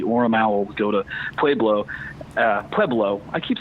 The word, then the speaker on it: Pueblo: They didn't I say, but there there is a there's like an old guard of Colorado people that pronounces it PBLO, which I think is the dumbest thing I've ever heard in my life.